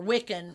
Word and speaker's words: Wicca: Well, and I think some people mistakenly connect paganism to Wiccanism or Wiccan.